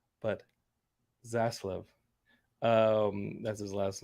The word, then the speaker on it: Zaslav: to be a tough one for me to pronounce but zaslav um that's his last name uh david zaslov